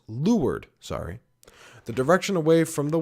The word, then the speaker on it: leeward: Lee, the area sheltered from the wind downward, leeward, pronounced leeward, the direction away from the wind, the side of the boat opposite the windward side.